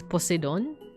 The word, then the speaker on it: Poseidon: Or I guess as they would pronounce it in Greece, Poseidon.